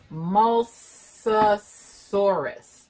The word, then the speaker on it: Mosasaurus: Mosasaurus.